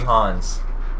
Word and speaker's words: Hans: The first words I listened to 40 Hans. I guess I'll ask, where's the name of that come from? So it's spelled right? Hans, but it's hands. It's just hands.